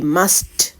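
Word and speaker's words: must: அவதானிப்போம் எம் யூ எஸ்டி மஸ்ட் எப்படி உச்சரிக்க வேண்டும் மஸ்ட் இந்த டி சவுண்ட் கடைசி எழுத்து டில முடியறபடியா டி சவுண்ட் அழுத்தமா விழ வேண்டும் மஸ்ட் மஸ்ட் இஸ்ட் என்று முடிய வேணும் மஸ்ட் என்றால் என்ன தமிழ்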